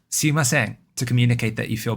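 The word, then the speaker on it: すみません: Sumimasen. That's the pitch contour with the mimasen being high pitch.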